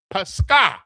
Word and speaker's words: Pascha: And it's pronounced Pascha. Now remember, Pasak is Hebrew. Pascha is Greek.